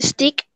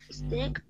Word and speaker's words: steak: La A no se pronuncia. Bread. Number eight. Rice. Rice. Yes, and number nine. Profe. Stick. Steak.